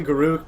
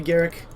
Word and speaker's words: Garruk: I actually say Garruk, but I know it's supposed to be Garrick. But I say Garruk. That one I'm not going to back down on. I say Garrick, because I pronounce it correctly.